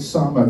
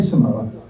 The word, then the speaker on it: Samoa: And you have to pronounce it like that, don't you? If you're a true rugby fan, you have to pronounce it Samoa. Can't say Samoa.